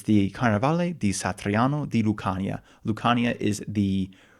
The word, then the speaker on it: Satriano: Satriano s a t r i a n o. Satriano is I guess how you would say it with an like an American English type accent.